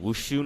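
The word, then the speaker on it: wuxia: Chinese novels called like wushu novels. It's spelled W-U-X-I-A, but you pronounce it as wushu, I think.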